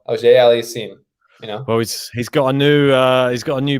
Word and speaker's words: Auger-Aliassime: He's got to be a little French, you got to have that French little AUGER-ALIASSIME, Well, he's got a new button.